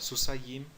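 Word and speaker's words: סוסיים: Nós pronunciamos a terminação dual com um acento na penúltima sílaba. Em vez de falar susayim, falamos susayim.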